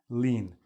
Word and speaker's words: lien: the problem is now this word lean it doesn't look like it but it sounds like this lean a lien is a